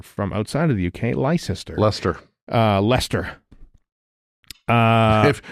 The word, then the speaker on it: Leicester: Or if you're from outside of the UK, Lester, Lester.